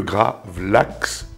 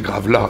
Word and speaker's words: gravlax: et qui s'appelle le gravlax gravla grav LAX il y a plusieurs façons de le prononcer Gilbert et moi on n pas d'accord moi je dis grave là donc je vais dire